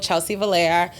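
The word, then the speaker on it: Chellsy Vilaire: as well but it's my business it's called Chelsea Valera um I'll spell that for YouTube um so it's my name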